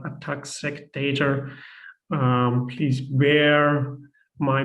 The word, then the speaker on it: ATAC-Seq: I welcome you to the training for ATAC-Seq data analysis, or ATAC-Seq. I quite often will pronounce it ATAC-Seq, which is not correct. It's actually called ATAC-Seq data.